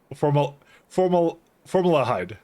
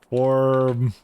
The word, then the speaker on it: formaldehyde: Blow your mind how to pronounce formaldehyde. Formaldehyde. That's what it is. Formaldehyde. Right? 1 second. Formaldehyde. Dude, it's like the second position.